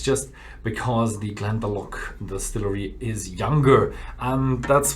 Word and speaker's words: Glendalough: Yeah, I've just had a talk with the distributor, and they told me, the pronunciation wrong. It's not Glendalough or something like that. It's Glendalough, and it's an Irish one.